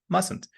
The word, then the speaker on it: mustn't: There's no Z sound in mustn't. It's a s mustn't.